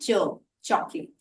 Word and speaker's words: chocolate: अब अगर हम देखें तो चॉकलेट शब्द में जो सी एच लेटर्स हैं उनको हम प्रोनाउंस करते हैं च, चॉकलेट।